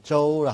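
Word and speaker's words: 舟: 음은 주, 발음은 저우라 합니다.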